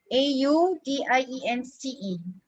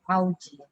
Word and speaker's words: audience: use google translate okay how do you pronounce this uh audience a-u-d-i-e-n-c-e audience isn't it there are people who pronounce it as aoji okay all right so so